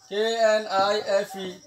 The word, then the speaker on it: knife: एन तक दो ना रहा के वाला अस्तुगुरी साइलेंट गुरी वाला यम के आवाज़ जाए बोल जब सो के know W No, K N I F E, knife.